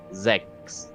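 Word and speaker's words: sechs: it out to you it's s e c h s sex sex sex well it's ZX anyways Mr L also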